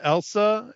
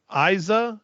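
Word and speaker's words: Eiza: in it and but it's not Elsa it's Isa e i z a Gonzalez and she has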